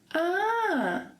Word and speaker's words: ah: So, for example, this interjection here that we use to express joy, admiration, even surprise, we say, ah, ah. Yes, there is an H, but the H is silent.